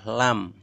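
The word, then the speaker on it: ل: Nomor 11 hurufnya ada satu, yaitu lam. Cara bacanya lam, lam, atau la, la, la.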